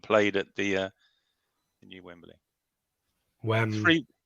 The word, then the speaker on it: Wembley: Wembley. There you go. 3 syllables.